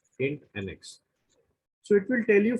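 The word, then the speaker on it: INTNX: the next function is in nx or interval next shortly pronounced as in nx so it will tell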